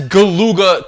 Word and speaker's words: Galuga: am making a big deal about how he pronounced galuga it's very crazy because the first like Mission cutscene Commander Doyle says galuga twice we've confirmed reports they've set up shop